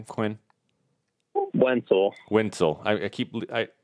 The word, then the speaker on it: Wentzel: name Quinn one pool Wintel I keep I know a guy named Stu Wetzel and I keep leaving off the end so my apologies so